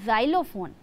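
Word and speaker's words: xylophone: इसका प्रोनाउंसिएशन होता है जाइलोफोन। यानी कि यह एक्स से स्टार्ट होने वाला एक वर्ड है। एक्स वाई एल ओ जाइलो पी एच ओ एन ई फोन जाइलोफोन और यह क्या होता है?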